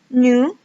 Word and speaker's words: nous: Kemudian yang kelima ada nous, S di belakang tidak dibaca, jadi hanya nous.